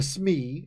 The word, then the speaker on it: SME: to consult a and I use the acronym SME but a Smee as you'll often hear people pronounce it stands for subject-matter expert